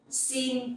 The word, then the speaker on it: xin: The X sound you will pronounce like S in English. Like the S sound in English. Okay, it's like in speak.